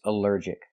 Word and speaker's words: allergic: Allergic is 3 syllables. Allergic. The stress is on the second syllable. Allergic. Allergic. Here the ALL is not pronounced all, but pronounced like in cup and up, because it's not stressed.